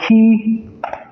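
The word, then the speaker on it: Kei: And the young chef in question, the young chef's name is Chef Key. It's spelled K-E-I, but pronounced K-E-Y.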